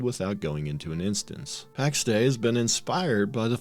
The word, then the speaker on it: Pax Dei: The Pax Dei name means the divine peace and is officially pronounced as Pax Dei, and I never pronounce it that way because I never remember to.